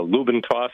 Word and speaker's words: Lube 'N' Toss: people were pronouncing it, they didn't enunciate the letter D, so it sounded like Lube 'N' Toss.